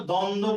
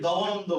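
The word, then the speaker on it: দ্বন্দ্ব: এটা আমরা দ্বন্দ বলি নাকি দবনন্দ বলি। আমরা ব এর উচ্চারণ এখানে বলি না।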